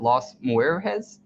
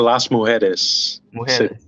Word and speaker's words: Las Mujeres: do you pronounce it Los Muir has whereas that's the las mujeres yes gotcha that was a